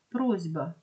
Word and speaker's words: просьба: це асиміляція за глухістю або слово просьба відбувається асиміляція за дзвінкістю дзвінки б впливає на попередній робить його дзвінким і це асиміляція за